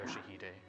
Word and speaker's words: Yoshihide: 아니, 그 글자는 그렇게 읽는 게 아니라 No, that's not how you read those letters. 요시대라고 읽는 거다. Yoshihide, that's how you say it.